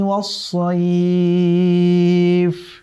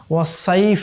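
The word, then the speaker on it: والصيف: রিহলাতাশ শীতাই ওয়াসসাইফ, খেয়াল রাখতে হবে এই সদের উচ্চারণ যেন ওয়াসাইফ না হয়ে যায় সিনের মতো করে। কেমন?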